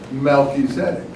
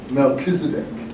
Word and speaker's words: Melchizedek: A priesthood after the order of Melchizedek. Or as some of you might have heard it said in a sermon, Melchizedek.